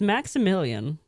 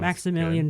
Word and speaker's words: Maksymilian: It's Maximilian. You know what? I like it. But it's spelled MAKSYMILIAN.